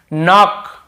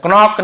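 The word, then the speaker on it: knock: एन के पहले के जैसे देखिए नॉक नॉक खटखटाना नॉक नॉक ऐसा होता तो नॉक यहां पर भी के सैंड होता है। कनॉक नहीं पढ़ेंगे केवल नॉक पढ़ेंगे।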